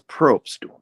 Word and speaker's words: Probst: It's Probst. Just say it one syllable is the best way. Probst.